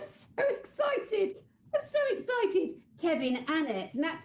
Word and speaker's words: Kevin Annett: Kevin Annet. And that's how you pronounce it, guys. It's Kevin Annet.